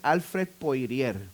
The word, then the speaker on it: Alfred Poirier: teólogo cuyo nombre es Alfred Poirier. Es un nombre francés que lo estoy pronunciando en español, Alfred Poirier.